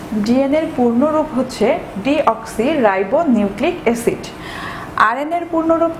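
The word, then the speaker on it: ডিঅক্সিরাইবোনিউক্লিক অ্যাসিড: তোমরা লক্ষ্য করে দেখবে আমি এখানে যেটি বলেছি সেটি হচ্ছে ডিঅক্সি রাইবো নিউক্লিক অ্যাসিড, আমি কিন্তু বলিনি ডাইঅক্সি রাইবো নিউক্লিক অ্যাসিড। তোমরা যদি এটি উচ্চারণ করার ক্ষেত্রে বলে থাকো যে ডাইঅক্সি রাইবো নিউক্লিক অ্যাসিড, তাহলে কিন্তু একটি এক্সট্রিম লেভেলের ভুল হয়ে যাবে।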